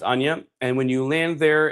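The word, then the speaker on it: Chania: So you think it's like Kanya or Chanya, but it's Ana, pronounced Ana.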